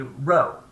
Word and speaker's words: rho: First off, it's not a P. It's a rho.